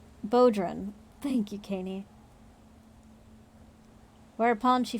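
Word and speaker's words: bodhrán: you how do you pronounce it like bo oh bodrin oh wow the only thing i didn't try bodrin oh well now now that you say it sounds obvious baudrin thank you kaney whereupon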